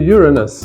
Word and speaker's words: Uranus: birth without male intervention to the sky to Uranus notice how carefully I pronounced the word there's Uranus there and Uranus